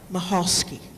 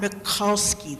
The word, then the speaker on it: Mahalski: presenter is Mahal mahalski and it's not molski that's the Jew Aran